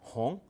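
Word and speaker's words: 红: And then we have silk, perhaps thinking of dyed red silk, and so you get the character meaning red, hong, and now the pronunciation is even further removed from gong.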